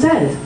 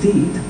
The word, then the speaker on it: dead: Beware of herd, a dreadful word, that looks like beard and sounds like bird, and dead. It's said like bed, not bead. For goodness sake, don't call it deed.